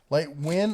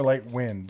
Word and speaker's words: Lightwin: Light win or light wind? Light win. Light win. One word. Light. Win. Just like it's spelled there.